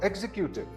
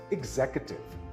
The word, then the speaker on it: executive: It's not executive. It's executive. The second syllable is stressed. Again, this word is executive.